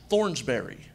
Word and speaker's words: Thornsberry: And I kept telling everybody, I'm like, guys, my last name is pronounced Thornsberry, not hey, faggot, pass the ball.